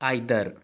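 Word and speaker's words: either: आइदर इस word को कुछ लोग ईदर भी पढ़ते हैं, लेकिन स्टूडेंट्स सही प्रोनाउंसिएशन है आइदर।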